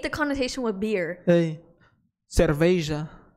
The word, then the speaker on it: cerveja: Hey, cerveja. That's how you say it in Portuguese.